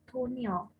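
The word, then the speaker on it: toneel: ada topil atau Dwi berasal dari bahasa Belanda dibacanya tunil artinya pertunjukan nah tonil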